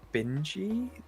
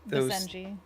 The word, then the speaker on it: Basenji: And then there was are they Binji? Basenji, yeah. Basenji.